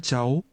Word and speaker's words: cháu: This is pronounced with a rising tone.